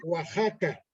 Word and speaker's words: Oaxaca: familiar este bueno primero mi estado se llama Oaxaca te escribe con x pues se pronuncia Oaxaca Este es en el